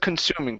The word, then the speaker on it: consuming: Much better with consuming, pronouncing that kun.